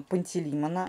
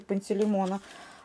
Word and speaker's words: Пантелеймона: Правильно говорить нужно Пантелеймона, а не Пантелеймона.